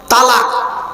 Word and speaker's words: তলাক: তো বলতে পারছে না শব্দটা কিন্তু তালাক নয় শব্দটা তালাক নয় শব্দটা হলো তলাক কি বললাম তলাক তলাক